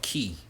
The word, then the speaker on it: Ki: Ball right Dragon Ball has a energy called key which is spelled Ki so a lot of